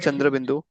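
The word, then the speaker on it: chandrabindu: So so like Chundraindu. Yeah. Yeah. So if it would be like like we say it's it's fully nasal sound. So it would be like chand chand.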